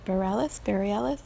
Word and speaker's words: Bareilles: It's by Sarah, I think you pronounce it Bareilles.